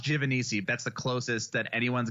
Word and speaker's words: Giovanisci: thank you for having me on Kevin it's pronounced jiff and easy that's the closest that anyone's got on the